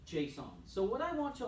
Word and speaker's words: JSON: that way on purpose this is not the name Jason this is JSON which stands for JavaScript object notation you're writing notes JavaScript